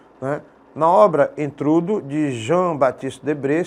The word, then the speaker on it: Jean: na obra entrudo de João Batista debr se escreve Jean mas se lê João de João Batista de